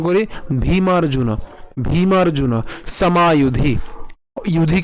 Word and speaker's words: যুধি: ইউধি কেন? যুধি হবে না, কারণ কি সংস্কৃত উচ্চারণের ক্ষেত্রে অন্তস্থ জয়ের উচ্চারণ কার মতো হয়? অন্ত্যেষ্টিয়র মতো হয়। তাহলে উচ্চারণ কেমন হবে? ইউধি।